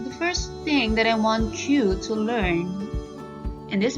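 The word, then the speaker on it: は: vah to other particles even though it's spelled ha it is pronounced wa if you're using this particle remember that so again wah is used to highlight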